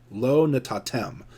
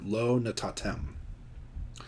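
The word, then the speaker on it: לא נתתם: 11 Low not tatem Lo natatem the accent would be on the final syllable here Lo natatem if you can't tell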